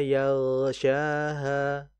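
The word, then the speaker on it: يَغْشَاهَا: Enggak go, enggak, enggak go, enggak ho enggak, tapi gho makanya dalam membaca gin dan yang sukun itu harus dialirkan dengan tebal. Jadi kalau kita baca seperti ini, wallaili idza yagsyaha.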